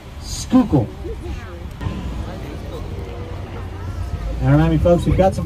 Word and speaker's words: Schuylkill: in case you're wondering how the hell you're supposed to pronounce that river on the left end of your maps schuylkill not chihuahua kill or whatever it looks like it should say schuylkill alrighty folks we've got